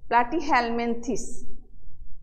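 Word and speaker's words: Platyhelminthes: এরপরে ফাইলাম থ্রি, প্লাটি, প্লাটি হেলমেনথিস, উচ্চারণগুলো সুন্দর করে শিখবা, প্লাটি হেলমেনথিস।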